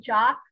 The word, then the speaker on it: Jacques: Jock, not Jack.